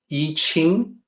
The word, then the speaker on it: I Ching: Well, people say, mispronounce I Ching or I Ching. It's actually I Ching. Why do people mispronounce? Well, it's a result of the previous form of romanization system, the older style, the Wade Giles romanization system.